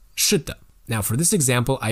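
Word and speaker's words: 是的: So can you feel the difference between a fourth tone and a neutral tone? 是的. The neutral tone seems to be shorter.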